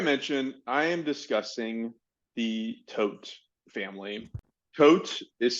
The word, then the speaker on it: Todt: so like I mentioned I am discussing the tote family coach is spelled t-o-d-t just in case you ever want